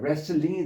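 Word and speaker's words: wrestling: 자 어쨌건 레슬링 이거 레슬만 하면 W 발음이 안 되고 T도 발음이 안 됩니다.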